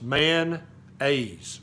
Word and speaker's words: mayonnaise: It's 2 syllables, man-aise.